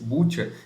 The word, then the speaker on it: Bucha: execução civis o caminho sem bucha pronuncia-se butcher cidade a menos de 30